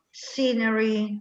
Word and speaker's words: scenery: Fantastic scenery. La show non si scrive così in inglese, la show è SH, quindi la SC è sempre S. Science, scientist, scenery, ok?